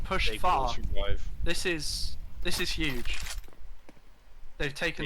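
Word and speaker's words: Ryv: I think that's put in the chat that is apparently pronounced Rive. Thank right. you. Okay. Thank I'll- you. R-Y-V. That's very helpful. Yes. Thank you. I'll go with Rive then.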